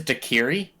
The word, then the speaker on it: daiquiri: Matt yeah I'm sorry just Daiquiri is dakiri yes all right I mean it's spelled d-a-i the logo for you